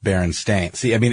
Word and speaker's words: Berenstain: I remember it being spelled Berenstein but pronounced Baron stains see I mean it's